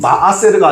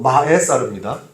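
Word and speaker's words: מעשר: 이게 이 마아세르가 아니고 마에사르입니다. 히브리어 발음으로 보면 콜 마에사르라고 하는데 신명기 14장 28절 이하에 자세하게 기록이 되어 있습니다.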